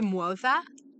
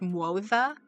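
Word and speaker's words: Moze: heard it in story I thought it was like Mo yeah cuz that's kind of how it spelled but it's MOA but yeah he's uh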